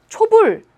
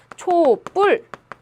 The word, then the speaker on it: 촛불: 하시면 되겠습니다 예를 들어볼게요 초와 불이 합쳐집니다 우리가 발음을 초불 이렇게 하면 아무런 상관이 없어요 하지만 우리가 발음을 어떻게 하냐면 촛불이라도 발음을 하지요 초뿔 원래 예사 소리였는데 이렇게 된 소리로 발음을 한단